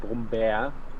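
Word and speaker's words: Brummbär: Brumbeer it's pronounced Brumbeer, and it means like It's a bit of a joking word for like bear, because brumm is like what the sound a bear makes.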